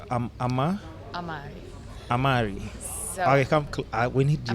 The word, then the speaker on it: Amare: Okay, so it's Amari. Amare. So Amare is actually a Latin word. Mm-hmm. It's a Latin verb and it means to love. So it stems from Latin, but I guess you can pronounce it however you want.